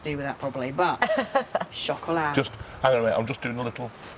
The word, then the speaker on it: Chocolat: Chocolat. Chocolat. Chocolat. No E on the end. No, we Don't pronounce that T.